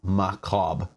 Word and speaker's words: macabre: I always say it wrong. I know I say it wrong. It's macabre.